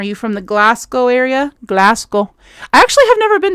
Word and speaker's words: Glasgow: Glasgow. I actually have never been to Glasgow. Sometimes, just for funsies, I like to say it like a true American American and say Glas Cow.